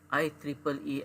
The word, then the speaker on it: IEEE: let me click this i triple e explore so you pronounce this i e e e e so we pronounce that as i triple e okay this is i